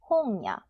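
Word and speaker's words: 本屋: 홍 여기 보이죠 책이에요 여기다가 야를 붙이면 서점이 됩니다 홍야 홍야 세 글자입니다 세 박자 자 전하는 응와 냉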